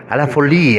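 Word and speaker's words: À la folie: A la Folie, así se pronuncia.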